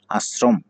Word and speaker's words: আশ্রম: এইখানে স এর উচ্চারণটা হবে দন্ত স এর মতো, ২ টাই আশ্রম।